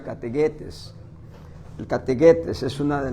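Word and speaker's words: kathegetes: Se escribe categetes, se pronuncia categuetes.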